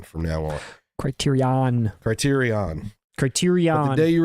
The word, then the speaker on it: Criterion: for all those who point out that we mispronounce criteria Ian since they did not announce house party on their December schedule they did not keep their end of the bargain with me they didn't it's Criterion from now on Criterion Criterion Criterion The Day